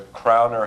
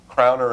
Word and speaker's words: crowner: that and and also crowner is a two- syllable word and carer is a three syllable word so you're changing the